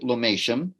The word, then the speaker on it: Lomatium: of lemon dissectum okay most people pronounce it lomation oh okay and uh